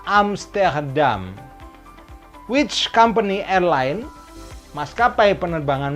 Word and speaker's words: Amsterdam: Bahasa Perancisnya Amsterdam itu pelafalannya adalah Amsterdam. Amsterdam.